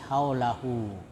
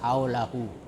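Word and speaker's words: حَوْلَهُ: Cara membacanya dipanjangkan sampai 1 alif saja, ya, atau seperti panjang mat tabi'i haulahu. Tapi kalau berhenti, ya, dibaca mati haulah. Tapi kalau dibaca bersambung haulahu.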